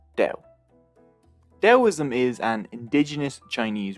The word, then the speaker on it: Tao: Either way, with a T or with a D, it's pronounced Tao.